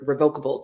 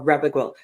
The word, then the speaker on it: revocable: we'll first start with re revocable trust or revocable people will pronounce it different ways re revocable revocable depends I think what part of the country you come from but they mean